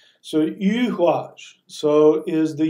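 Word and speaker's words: Eihwaz: And here we have Yuhuaj. It's spelled E-I, and people want to call it Eyuaj. It's not.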